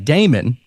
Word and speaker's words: daemon: So you would have a daemon, or it's spelled daemon, but it's pronounced demon. It's Daemon.